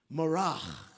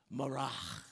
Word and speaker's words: Marah: When they came to Mar, now I'm not clearing my throat. I'm pronouncing it in the Hebrew. Mor, they could not drink the waters of Marah, for they were bitter. Therefore, the name of that place was called Marak. Pronounce that. Say it. Marak. Yes, that's the first Hebrew lesson.